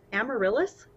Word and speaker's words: amaryllis: never say it right it's the amaryllis is that correct that is correct that you force up